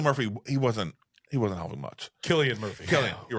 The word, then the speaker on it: Cillian: I always see the C, and it's always Cillian in my mind. I said Cillian in the beginning, and you guys corrected me.